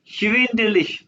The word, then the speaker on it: schwindelig: mir schwindelig, schwindelig, ये word बोलो अपने पास तीनों। schwindelig, शिविंदलिक। schwindelig। शिविंदलिश। अगर जैसे स्पेलिंग है वैसे बोलो तो आसान आएगा।